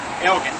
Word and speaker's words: Elgin: his name was uh Elgen and he lent his name to the city on the condition that they use the proper pronunciation which was in Scottish is a hard G so that's why everybody